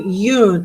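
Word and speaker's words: Jung: Uh, pleasures, joys, feminine side to Yune. I I always pronounce that Yune. I had psychology 101 in high school and I was taught to say yun uh anima anime anima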